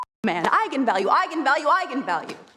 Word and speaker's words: eigenvalue: and said that's right eagan value and then apparently the internet went nuts when it came out because apparently it's pronounced eigenvalue that's how you're supposed to say it and the director don't